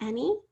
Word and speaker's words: any: Can you remember how to spell any? Any sounds like an E, but it's spelled with an A.